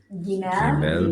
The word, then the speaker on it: Gimel: Vine, Gimel, Gimel. G as in girl, G.